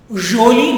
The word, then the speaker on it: joli: Repeat the pronunciation. Grand, joli, not jo, no jo, it is jo, joli.